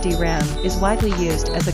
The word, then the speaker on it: DRAM: and static Ram SRAM drum pronounced dram is widely used as